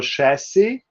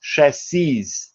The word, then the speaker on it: chassis: kind of an exception chassis we mentioned it in the lecture last week is the word which has a different pronunciation but the same spelling in plural so chassis is chassis but spells the same this is from french scarf is in the